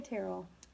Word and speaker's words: Terrell: How do you say Terl? I say Terrell. I mean, it's like my last name.